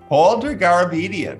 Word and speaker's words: Paul Dergarabedian: take you beyond the news my guest today older garbedian senior media analyst for comscore Welcome All Dalton it's great to be here you pronounced my name perfectly I really appreciate it